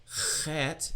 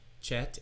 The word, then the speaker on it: chet: Chet, here's a fun one. It's not chet as in chicken and church. It is chet with some chutzpah like in the German composer Bach. Bach.